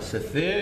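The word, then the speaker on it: ספר: This is how you say book in Hebrew, okay? Se.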